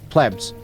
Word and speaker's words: plebs: No, plebs. No, please, it doesn't have two E's. Plebs.